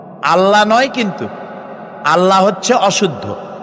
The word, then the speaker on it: আল্লাহ: কি গুণ বলেন কি গুণাবলীতে বিশ্বাস আল্লাহর নাম আল্লাহ বলেন তো আল্লাহ নয় কিন্তু আল্লাহ হচ্ছে অশুদ্ধ শুদ্ধ হচ্ছে আল্লাহ